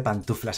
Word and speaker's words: pantuflas: Se dice pantuflas a secas, ¿no? O sea, sin la segunda N.